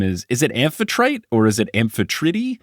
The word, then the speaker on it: Amphitrite: name is is it amphitrite or is it aetr I would say aetr because typically in Greek you pronounce all of the letters in their like long forms cool good to know